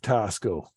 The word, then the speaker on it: Tasco: people to steer clear of tosco it rhymes with Fiasco after all but back